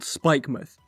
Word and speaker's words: Spikemuth: like how they spelled spikemuth in england we have places like this and while it's spelled mouth we say muth for example portsmouth or plymouth and i kind of